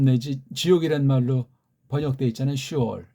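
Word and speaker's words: שאול: 슈올. 네. 어근이 똑같아요. 이거. 여기 이제 오자만 하나 더 넣은 거예요. 슈올이라고 발음해야 돼. 이게 무슨 어떤 애들은 쉐올 그냥 혓바닥에 굴러가지 않는 확신이 없는 서양 엉터리 발음.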